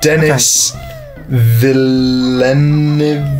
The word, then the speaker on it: Denis Villeneuve: I can never pronounce his name. It's Denis Villeneuve.